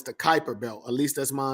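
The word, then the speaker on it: Kuiper: do so I know it kept saying the Cooper belt no it's the Kyper belt at least that's my understanding how Kyper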